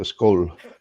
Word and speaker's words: skål: It's like pronouncing bowl, but just what's the best way? Take the B and just put SK in front of it. So skol.